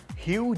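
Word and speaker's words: Hugh: ई हग जैकमनवा कौन है? हग नहीं ह्यूज जैकमेन। यू तो हम बोल रहे हैं यार। एच यू जी एच किसको पता है कैसे प्रोनाउंस करना होता है।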